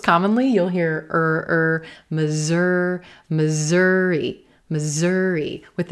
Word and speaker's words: Missouri: hear Missouri, Missouri, Missouri, with a z, those S's becoming a z, z, z, z sound. Missouri, Missouri. You got to be careful. Make sure you're stressing the second syllable and making this a purple shirt word. Missouri. It's not misery. Misery, or to be so unhappy. It's not misery in Missouri.